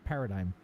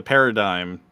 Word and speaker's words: paradigm: How was I able to read verisimilitude without a problem and not paradigm? God damn. You're It looks getting like better. a hard G. It looks like a hard G.